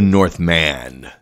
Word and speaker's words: Northman: release the northmen funny how he pronounced at the northmen but you know it's the north man and wow what a